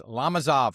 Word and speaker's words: Lomazov: I can't believe I pronounced his last name wrong. It's Lomazov, Mitch Lomazov. And afterwards, ladies and gentlemen, he said, don't worry about it. Everybody calls him Lomazov, but it's Lomazov.